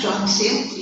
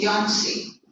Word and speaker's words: Johnsy: Sue and Yancey, they're not Johnsy, Yancey. J is silent.